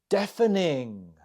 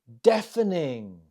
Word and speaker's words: deafening: you say it it deafening deafening the stress is on the first syllable How did you do